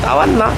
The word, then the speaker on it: Tawana: 아까 말씀드렸다시피 방카피몰 근처에 있는 타완나라고, 태국인 발음으론 따왔나?